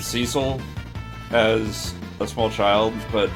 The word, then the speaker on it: Cecil: Mega Magicite says, then again, Dissidia also pronounces Cecil's name with a short E rather than a long E, and pronounces Zidane's name as Zidane. Yeah, I always said Cecil as a small child,